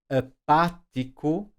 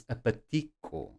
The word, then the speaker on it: apático: Now notice, if I don't have an accent mark here, I will naturally pronounce apatico. But we don't want apatico because we don't say apatico, we say apático, so we need the accent mark there.